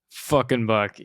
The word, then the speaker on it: FknBucky: I spell it, you say fucking Bucky.